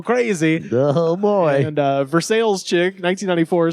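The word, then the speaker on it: Versailles: so I'm I said versales because I'm assuming this reference to verses Kentucky which is very much spelled Versa but very much pronounced versales uh so again shout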